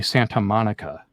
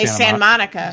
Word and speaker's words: Santa Monica: We don't say Santa Monica. We say Santa Monica. Santa Monica.